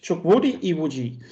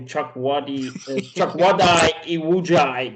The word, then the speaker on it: Chukwudi Iwuji: and then you guys don't have to, is Chukwudi Iwuji. At least that's how I would pronounce it. If he's American, it would be probably Chukwudi Iwuji, but let's just...